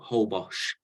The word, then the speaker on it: Holbox: Kimberly who said old whole box is that correct whole box h-o-l-b-o-x is the correct way of spelling it but whole Bosch is the way is pronounced okay I'm still gonna